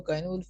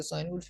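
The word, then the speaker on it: Cynewulf: Basically इसकी जो pronunciation है वो काइन वुल्फ है, लेकिन कुछ लोग इसका साइन वुल्फ भी पढ़ते हैं।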